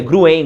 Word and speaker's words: Gruen: gruen gruen gruen gruen eu fui ler o qu gruer ainda fui vê como é que era a da pronúncia agora é o gruer né então o gruer ele